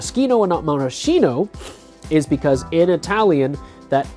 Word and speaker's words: maraschino: into a hard cut so technically the correct pronunciation is modeski no but I'm a little less stringent with that